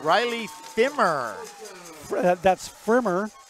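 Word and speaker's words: Pfrimmer: That's Frimmer. Firmer? Frimmer. Firmer. Frimmer. P-F-R. Frimmer. Firmer. Frimmer. Frimmer. No, the P is silent.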